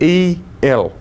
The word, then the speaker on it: El: And Michael is a name which means one like El. You might say, "Who's El?" We might have seen the the word E L. Pronounced El.